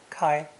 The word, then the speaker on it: 開: removing a wooden beam barring those double doors is an important verb pronounced kai which can refer to open